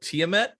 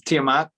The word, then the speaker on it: Tiamat: my pronunciation on this uh tiamet you're close tiamat yep yep tiamat is a